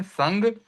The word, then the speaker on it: संग: तो यहां पर या तो अनुनासिक करें नासिका से उच्चारण करें संग तो सही माना जाएगा और चंचल में